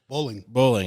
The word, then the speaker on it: Bowling: Bowling.